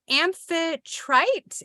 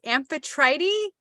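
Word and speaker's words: Amphitrite: serene and it says hi I'm amphi trite amphetrighty sounds like Aphrodite but it's spelled a-m-p-h-i-t-r-i-t-e never heard of her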